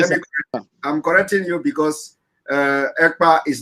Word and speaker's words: Ekpa: And my name is not Akpan. My name is Ekpa. EKPA.